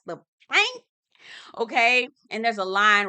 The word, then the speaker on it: Pynk: pink now it's called pyn K so it's pronounced the pink okay and there's a line wrapped around the